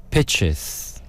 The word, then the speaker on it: Pichs: They're called the Pitches. Pitches. Wow. Spelled Pichs. That's So interesting. it's like peaks. Pitches. It's pronounced pitches.